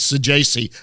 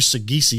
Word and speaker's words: Sajasi: hitting, and I go, how do you say your last name? He goes, Sajasi. I almost fell over. I was like, really? He goes, no, seriously. And I go, I've called you Sagisi since you got drafted.